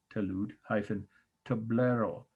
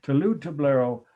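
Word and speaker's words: talud-tablero: you i will t a l u d touloud hyphen tablero t a b l e r o tolu toblero is a term that describes and here we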